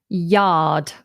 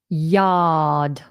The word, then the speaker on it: yard: So let's move on from neglected gardens and just very briefly mention the word yard. Yard. Notice I don't pronounce the R there.